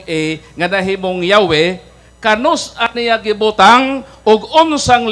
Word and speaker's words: Yahweh: Pero kung Hebrew basahon, ang litra Yud He Waw He, pronounce man gyapon nga Yahweh, transliteration ra.